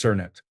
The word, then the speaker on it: Knut: Knut pronounced Cernut.